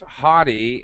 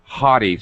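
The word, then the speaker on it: haughty: is good word ah I can't I can't pronounce it prop no no no you did that you are absolutely right it's hottie and I should actually uh well come on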